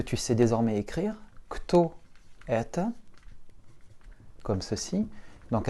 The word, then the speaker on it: это: Alors, kto это, que tu sais désormais écrire, kto это, comme ceci, donc avec un accent très prononcé sur le e, et donc notre o se réduit en a.